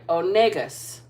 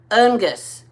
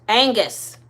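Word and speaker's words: Oenghus: Wands we've got youthful Champion son of light onus onus onus how do you pronounce that o e n g h u s Angus Angus thank you Angus took me a minute I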